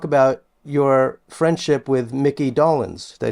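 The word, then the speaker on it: Dolenz: and you talk about your friendship with Mickey dolins did I say his name right dolins yes and and his wonderful wife and the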